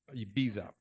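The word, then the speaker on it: Ibiza: on the island of Eiva. In Spain, you can only say it like this, IA.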